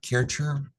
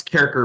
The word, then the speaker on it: Kaercher: are joined by kerer I hope I I'm pronouncing your last name correct H it's carer but it's okay that's pretty close I've heard worse I